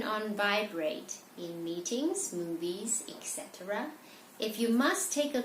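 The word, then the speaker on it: et cetera: talk about is the ETCs be here this is pronounces expect to ride it's not ET seeds etc it originates from latin so basically it just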